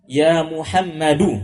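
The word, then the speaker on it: محمدُ: Aliu ini penghalang tanwin tidak dibaca ya Muhammad muhammadu bacanya nanti ada pelajaran berikutnya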